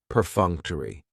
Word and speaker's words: perfunctory: Perfunctory has 4 syllables, and the stress is on that second syllable, that funk, perfunctory. That third syllable has the schwa, and it's going to end with that long E sound, perfunctory, perfunctory.